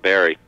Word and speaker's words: Barre: or yeah barry actually my last name is pronounced barry it's spelled b-a-r-r-e oh okay but uh